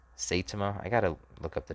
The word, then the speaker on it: Saitama: germany versus italy germany versus italy location uh satoma saitama i gotta look up the definition i got